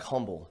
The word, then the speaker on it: Humble: it just looks like humble nobody nobody in the world other than you know and hump in Humble Texas knows that that H is not pronounced right right so it's